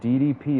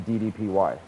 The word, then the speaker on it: DDPY: know what's funny dude he doesn't even like calling it DDP anymore he wants it you said it right he wants it to be ddpy so you know how to